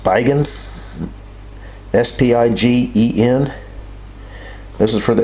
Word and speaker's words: Spigen: It's by a company, I guess that's pronounced Spigen, S-P-I-G-E-N.